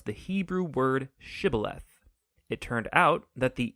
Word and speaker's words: shibboleth: pronounce the Hebrew word shibboleth it turned out that the ephraimites had grown up pronouncing that word differently so instead of saying shibboleth they would say sibileth when that happened the